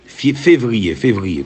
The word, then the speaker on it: Février: Février, comme le mois février.